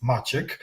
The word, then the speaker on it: Maciek: has that have the problem pronouncing my name which is Magic like if you say